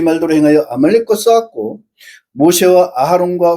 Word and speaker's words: 아하론: 또 아론도 아하론입니다. 두음절 아론이 아니고 새음절이에요. 아하론.